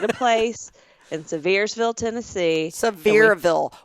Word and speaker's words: Sevierville: Sevierville. Why can you not pronounce anything today? Sevierville. There's no S.